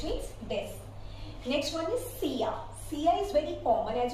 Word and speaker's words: silla: This is double L, but I have mentioned that this gives you the pronunciation of Y, so we call it out as silla.